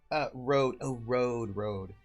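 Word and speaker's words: RØDE: Road. Röde. Yeah, Americans don't say Röde, and I will tell you this, Ice Bunny, if I pronounce Röde as Röde, people would think I was pretentious.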